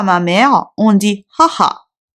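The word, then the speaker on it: はは: par rapport à ma mère, on dit haha. On prononce H.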